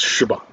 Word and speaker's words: Siobhan: It's Siobhan.